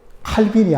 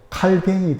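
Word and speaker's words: Calvin: 그런데 이 프랑스 발음으로 하면 칼빈이 아니고, 칼빈은 영어식 발음이고 칼뱅이 됩니다.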